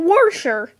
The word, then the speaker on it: wash: wash it's not wash it's not washer it is wash there never has been and never will be an r in the word wash and he knows this